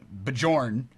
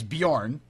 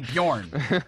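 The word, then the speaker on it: Björn: week and I uh I I pronounced the guy's name Bjorn when every idiot knows it's Bjorn apparently everybody knows that because they all emailed me and said hey it's it's definitely Bjorn it's it's Swedish it's Bjorn you know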